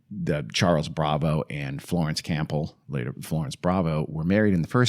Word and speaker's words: Campbell: It helps us understand why the Charles Bravo and Florence Campbell, later Florence Bravo, were married in the first